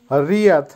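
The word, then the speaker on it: ряд: ভিদ, ভিদের অর্থ হবে দৃশ্য বা ভিউ বা লোক, উচ্চারণ হবে ভিদ। আবারও বলছি ভিদ। রিয়াদ, রিয়াদের অর্থ হবে শাড়ি, ইংলিশে যেটা হবে রো অথবা লাইন, উচ্চারণ হবে রিয়াদ।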